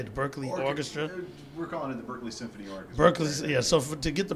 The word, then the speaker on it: Berklee: orchestras how do you say the Berklee Orchestra Berkeley yeah so to get the Berkeley Berkeley Symphony